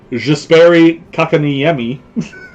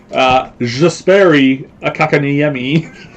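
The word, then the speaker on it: Jesperi Kotkaniemi: I have a Jesperi Kakaniemi. Dan laughs every time I say his name, but that's how you say his name. Jesperi Kakaniemi.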